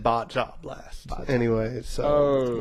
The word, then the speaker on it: Baja: But Baja Blast is spelled B-A-J-A. If you're white, you're going to be like Baja Blast, right? Yes. Not Baja.